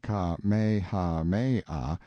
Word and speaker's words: Kamehameha: When Kamehameha, pronounced Ka-me-ha-me-ah, the Great, who was